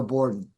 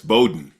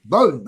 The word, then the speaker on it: Bodden: Phil is doing old war stories with Alonzo bordon which I I pronounced by the way John there's no R in there it's Bowden Bowden okay hey you know I've had a couple